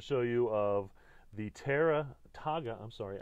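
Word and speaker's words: Taiga: you of the terra taga i'm sorry i think it's pronounced taga tara hemp cooler so this company is using hemp composite once again the name of the company is togga t-a-i-g-a canadian possibly i think if i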